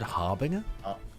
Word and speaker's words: harbinger: you pronounce that word Harbinger is it harbinger I'm harboring a harbinger I don't know sure oh yeah it's Harbinger it's like a j sound Bren is losing his